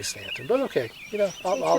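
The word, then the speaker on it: Staunton: Near Stanton, which actually is spelled Staon, but for some reason we say Stanton, but okay.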